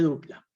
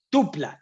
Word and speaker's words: tupla: leyendo eso está bien pero no se dice dupla aunque le pegó al palo le pegó al palo tupla eso correcto entonces las listas que